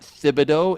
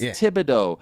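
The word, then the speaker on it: Thibodeau: And by the way, it's not Thibido. It's Tibido. It's a French name. Tibo. The th is a T. It's not a th.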